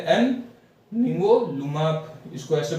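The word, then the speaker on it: nivolumab: इसको प्रोनाउंसिएशन कर, इसका सिंबल है एन निवोलुमाब, इसको ऐसे प्रोनाउंस करते हैं।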